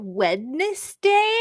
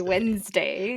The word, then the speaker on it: Wednesday: that way so wait are you supposed to pronounce it wedness day no no no no I didn't think so okay I say Wednesday yeah a lot of